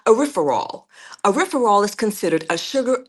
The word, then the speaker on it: erythritol: In the July 14th statement, the researchers said erythritol, yeah, it's pronounced erythritol, made platelets in a research that they did.